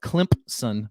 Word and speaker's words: Clemson: I had a Clemson fan call me out on TikTok because I was mispronouncing Clemson. Said that if I needed to call it Clemson because the Zen was too hard to say. I say all that to say this. It's Clemson, apparently.